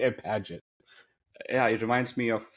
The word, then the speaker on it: Paget: name right padet but padet but it's it's like page with a t people spell it and